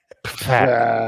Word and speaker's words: Pfaadt: Fat. It doesn't give you like a pronunciation next to his name on the stat page, but yeah, man.